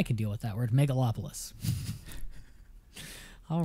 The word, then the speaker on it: megalopolis: far what's mega lapras how would you pronounce that word mega lapras megalopolis megalopolis megalopolis that's what it is megalopolis new word everybody megalopolis it's like a Cosmopolis megalopolis yeah I thought